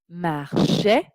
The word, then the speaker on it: marchais: Je marchais. Donc, AIS se prononce est. C'est un E ouvert, E accent grave.